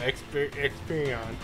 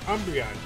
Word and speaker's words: Umbreon: Experion. Experion. Oh no, come on. I don't wanna fight it. Oh, no, not Experion, it's Umbreon.